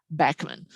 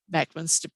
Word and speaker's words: Bachman: cockade woodpecker stands and the rare bachmann sparrow or bachmann sparrow some pronounce it but uh on the state ornithologist cliff shackleford has met the family and they pronounce their family name bachmann so i'm trying to